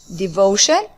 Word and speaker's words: devotion: So love is a noun, that's why we need a noun, and the noun here is devotion. It ends with shen.